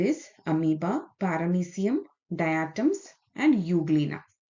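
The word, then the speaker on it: Euglena: amieba parramsium diatoms and Uglina although it is pronounced U there is a E in front of that E U means true.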